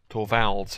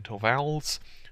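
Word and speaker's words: Torvalds: of Linux Creator his name is Linus uh to vals hopefully they pronounced that right that's linnus l i n us and then to vals that's T RV a l DS and the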